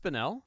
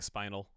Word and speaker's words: Spinel: Is it Is it pronounced Spinel? Correct. Okay. My whole life I've been saying Spinal.